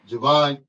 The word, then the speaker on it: Jevon: who's going places in the world name is Javon did I pronounce that right yes sir yes you did Javon yeah I'm going give you a little context